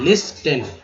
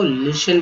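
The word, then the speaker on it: listen: लिस्टेन गलत है, यहाँ जो टी है ये साइलेंट कर दिया गया है, ठीक है, साइलेंट कर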